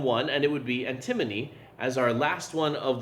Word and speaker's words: antimony: And so for this one we're going to talk about antimony, or antimony as some people have pronounced it.